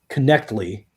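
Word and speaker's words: Knechtle: with a guy named Stuart Connectly. Is how you actually say his name. I thought it was Nettle. It's Knech or whatever.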